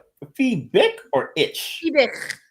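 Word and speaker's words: Fiebich: Fibic. It's like a. Okay. I've always pronounced that.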